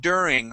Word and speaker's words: during: so with the word during make sure that you're pronouncing an English D and not a Spanish D you would said during during okay it is dur during like an R right yep like an